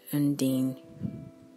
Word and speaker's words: Undine: more about her and I'll spell the first name you in di any and believe you pronounce it and Dean and she was born